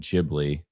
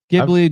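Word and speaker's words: Ghibli: I've heard that you're actually like the more Asian you make it sound like almost like you're imitating it is actually the correct way to say it.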